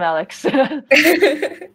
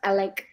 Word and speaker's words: Alec: I love the enthusiasm, Alex. I think it's pronounced Alec, actually.